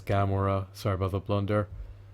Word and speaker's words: Gamora: Neither is um Garnora, I believe that's her name, her moniker maybe. And it's pronounced actually is Gamora.